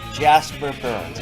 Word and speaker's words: Jasper Bernes: I am very pleased to introduce Jasper Bernes. Am I pronouncing your name correctly, Jasper?